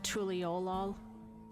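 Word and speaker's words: Tuliyollal: Apparently I was almost right on Tuliolal the first time. I think it's the emphasis is on the O, the Tuliolal.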